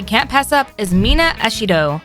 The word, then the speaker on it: Ashido: Another interesting character that we can’t pass up is Mina Ashido. Her last name is basically pronounced the same as how you would pronounce “acid” in Japanese.